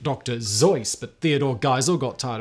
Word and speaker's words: Seuss: on from there dr seuss should actually be pronounced dr zoice but theodore geisel got tired of correcting people so we now also dr seuss instead of how he dr seuss or zoys